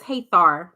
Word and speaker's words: Hathar: Her name is Hathar. That's how you say it.